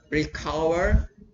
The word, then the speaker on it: recover: three is recover recover so the stress is on cover recover um is a verb